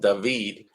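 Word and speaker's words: David: Ghostbusters film the new Ghostbusters movie coming up dahveed which is spelt dated but it's pronounced dahveed he plays Bruce Wayne in the Gotham series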